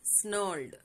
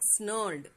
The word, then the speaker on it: snarled: Each time that the ox came near the hay, the dog snarled. R is silent. So the dog snarled, barked, and snapped at the ox.